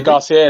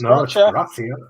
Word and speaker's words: Gracia: They want to say Garcia. It's not Garcia. It's Gracia. It's Gracia. It's Gracia. That's how you say it.